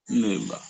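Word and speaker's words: neighbour: বাকি আপনি যদি আরো শুদ্ধ করে উচ্চারণ করতে চান তখন উচ্চারণটা হবে নেই বা, নেই বা। নেইবার।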